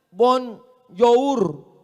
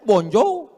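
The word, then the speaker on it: bonjour: Tulisannya bon jowur? Bacanya bonjou, bon soir, bonsa.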